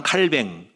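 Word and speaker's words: Calvin: 요하네스 칼빈우스로 요가의 그래서 프랑스어로는 칼장 칼뱅 조언을 장으로 부르고 칼빈을 칼뱅으로 부른데요 프랑스어로인가요 이름이 짱 칼뱅 프랑스어로 영어 발음으로는 좋은 갈비 좋은 갈비는 됐다 이렇게 참고로 아시면 되겠습니다 프랑스는 짱 칼뱅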